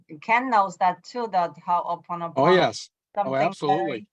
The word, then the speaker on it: Ho'oponopono: Ho'oponopono prayer?